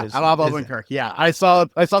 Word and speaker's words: Odenkirk: Did I pronounce that? I always stumble on this. Yeah, Bob Odenkirk.